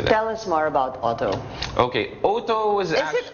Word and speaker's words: Owto: why we opted for OWTO. So ang tama palang pronunciation niya, Owto.